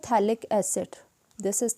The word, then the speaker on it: थैलिक: हो, this is द थैलिक acid, this is द थैलिक acid. और थैलिक acid में pH silent होता है, उसको नहीं पढ़ते हम, TH से स्टार्ट करते हैं, थैलिक acid, this is द थैलिक acid.